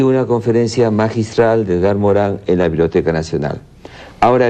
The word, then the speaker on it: Morin: Se escribe Morin, M-O-R-I-N, Morán, en 3 partes, para no caer en la charlatanería.